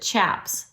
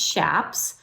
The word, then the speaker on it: chaps: Now some people pronounce it chaps but that is not correct. They're pronounced shaps because they're named after the plant chaparral.